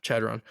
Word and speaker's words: Chadron: East Carolina they beat Davis cowply Troy and Chardon state shadon I'm going to help you out on that yeah Chadron convincingly chadon sorry my D2 pronunciation that was